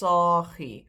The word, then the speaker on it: saagie: The diminutive is still pronounced saagie with a long A, even though you've dropped one and it's spelled with one. It's still pronounced as the previous original word.